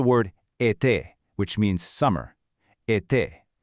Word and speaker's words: été: If you see it, it indicates a closed e sound. This just means your mouth should be slightly closed, your lips stretched a bit, making a sharp, crisp sound like a. Think of the word été, which means summer.